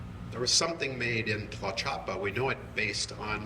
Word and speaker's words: Tlaxcala: and the OXA, so you have 3 syllables in that word, like Oaxaca, you know, well, and like I say, the stops for the syllables, and then the TC is Tlaxcala, there's actually 3 syllables there, but you have an extra stop.